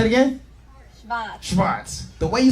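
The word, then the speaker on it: Schwarz: Schwartz. Say it. Say it again. Schwartz.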